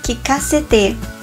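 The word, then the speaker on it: 聞かせて: E sua pronúncia correta é que cacete.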